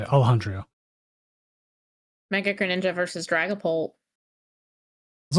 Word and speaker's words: Alejandro: Yeah, that's how you say it, Alejandro.